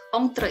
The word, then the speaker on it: entre: Nah, itu bunyinya entre ya kalau dalam bahasa Prancis, itu berarti antara.